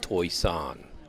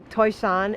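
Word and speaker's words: Toisan: sits the city of toy san toy san not pronounced like it's spelled toishan is like where the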